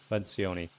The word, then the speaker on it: Lencioni: Patrick Leonucci or Lencioni. Lencioni.